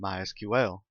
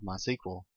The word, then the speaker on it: MySQL: as you can tell I've been calling it MySQL that is the correct pronunciation however it is also commonly called my sequel if you hear it called that don't be